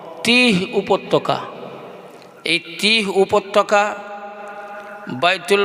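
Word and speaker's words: তীহ: কবর একটা উপত্যকায় যে উপত্যকাটার নাম হলো তি বাংলায় যার উচ্চারণ হলো তয় দীর্ঘই হ তিহ উপত্যকা এই তিহ উপত্যকা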